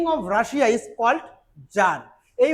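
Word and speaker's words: tsar: বলি ঠিক রাশিয়াতে king of Russia is called jar এই উচ্চারণটা টিস আর এটা কিন্তু আমরা যার উচ্চার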